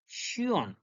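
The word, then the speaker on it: schön: Example, Shion, Shion, Shion, Shion.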